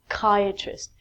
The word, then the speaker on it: psychiatrist: Again, we take out the P and it's psychiatrist. We change the CH to a K.